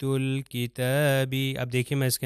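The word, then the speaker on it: الْكِتَاب: اس کے بعد کاف، تو یہ میں لام کو ضرور تلفظ کروں گا اور یہ ہو جائے گا آیات الکتابی۔ اب دیکھیے میں اس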